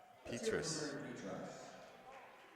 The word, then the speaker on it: Petras: And for the Spartans, number 24, Mary Petras. Petras. So Mary Petras, I'm going to go with that pronunciation.